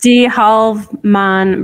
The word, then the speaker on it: Halve Maan: it's Halve Maan Brewery in Bruges.